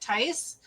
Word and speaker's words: Theis: And whenever there's two vowels in a German last name that are together, you always pronounce the second one. So in this case, my name is EI, so you pronounce it Theis.